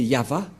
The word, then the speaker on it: Yahvah: du grandpère Moché ne pêchent point le nom prononcé par le grand-père Abraham c'est yava et le nom initial de ce Dieu c'est